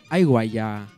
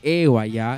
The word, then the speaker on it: Eguaya: Pero noté que Alondra y Juanita decían Aiguaya o Aiguacuyashun, porque ellos en su quechua de conchucos pronuncian así. Aiguaya, nosotros Eguaya.